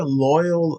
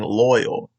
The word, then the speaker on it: Loyle: it's pronounced I mean the way it's spelled but the way I'm pronouncing it it's like I'm saying loyal l-o-y-a-l like for all I know it could be pronounced a totally different way but loyal here lists all